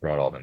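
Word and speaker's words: Broadalbin: Uh, the town, everybody who lives there called it Broad Albin. It's pronounced Broad Albin.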